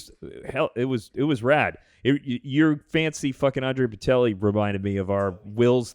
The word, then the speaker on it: Bocelli: Bocelli? It's Bocelli.